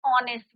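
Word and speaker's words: honest: एन ऑनेस्ट बॉय, ही इज एन ऑनेस्ट बॉय। अब हम यहाँ क्या लगाते हैं बच्चों? एन ऑनेस्ट। यहाँ पे एच क्या है आपका? साइलेंट। साउंड किसका आ रहा है आपका? Vowel sound.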